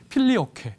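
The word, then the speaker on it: Filioque: 그래서 이제 이 단어를 쳐서 그러니까 한꺼번에 이제 우리가 필리오급의 라틴어로 혹은 이제 영어로는 필리오케 이렇게 이제 발음을 합니다.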